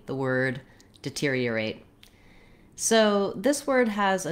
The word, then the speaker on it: deteriorate: So just knowing that the basic sound of that stress syllable is ear, you can build from that. Ear, tear, deteriorate, deteriorate.